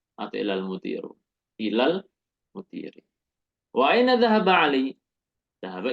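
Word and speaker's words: إِلَى الْمُدِيرِ: Al-mudiri, ilal mudiri. Kita nggak membaca ilal mudiro atau ilal mudiru. Ilal mudiri.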